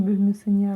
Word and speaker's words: бөлмесіне: Ударение на «е».